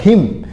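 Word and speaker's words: hymn: हिम। यहां पर N silent रहता है। इसलिए इसको हिम बोला जाता है।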